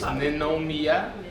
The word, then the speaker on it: Ninomiya: They say because my last name is really difficult to pronounce. It's Ninomiya.